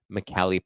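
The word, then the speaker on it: Michele: premiere of the film McKelly pronounced in Italian is a man's name Michelle is the feminine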